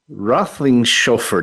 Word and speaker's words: Roethlingshoefer: Very pleased today to have Justin Roethlingshoefer.